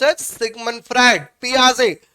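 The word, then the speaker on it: Piaget: पियाजे, लिखा होता है GET लास्ट में, बट इट is pronounced as पियाजे। वो फ्रेंच नेम है, लास्ट वाला लेटर जो है वो साइलेंट हो जाता है।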